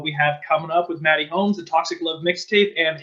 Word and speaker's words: Mxtty Holmes: you'll actually notice that there's no x it's actually maddie holmes without dx had to be a